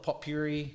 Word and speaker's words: potpourri: In Australia, we call it pot puree. Yeah. It's like dried rose petals and flowers. What do you call it? How do you say it, Andrew? Potpourri.